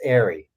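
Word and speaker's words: Aari: Said, "Sorry, my name's not Ari; it's pronounced Ari."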